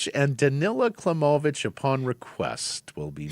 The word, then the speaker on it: Danila: He said the writing was on the wall for Danilla. Danila. Oh, you're insisting on that pronunciation.